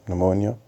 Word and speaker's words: pneumonia: which developed in in not P no Meah pneumonia if I'm pronouncing right pneumonia between the P silent she's young man is